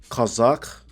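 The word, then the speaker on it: חזק: So the pronunciation is Kazakh, right? In the Hebrew.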